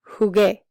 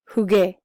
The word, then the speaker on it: jugué: G sound, as in jugué. Oh, wait. Llegué, jugué. Navegué, pagué. Even though the U is silent, it makes you pronounce this G like G.